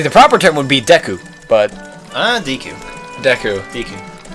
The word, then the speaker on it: Deku: See, the proper term would be Deku, but... Deku. Deku. Deku. They don't have long pronounced E's like that. They wouldn't say it like that in Japan.